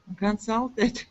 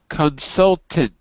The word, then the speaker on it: consultant: Consultant. Consultant. Yes. That's it. It is spelled. Person who give consult. That's right. That's right. Yes. It is spelled consultant, but it is pronounced consultant.